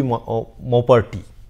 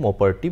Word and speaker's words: Maupertuis: So, So, the pronunciation in my opinion will be Maupertuis. It is a French name, Maupertuis, but do not count